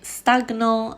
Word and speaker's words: stagnant: Mais stagnant, diagnostic, stagné, cognition. Donc, on sépare la G et la N.